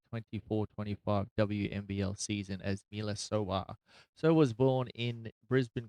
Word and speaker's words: Sowah: So born, obviously, Miela Elizabeth Goodchild, born the 4th of June 2000, marrying Josh Sowah in, is that how you pronounce the name?